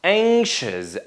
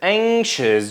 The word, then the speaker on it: anxious: we have anxious here that NX is pronounced as Ang sound anxious anxious just like that whenever you see as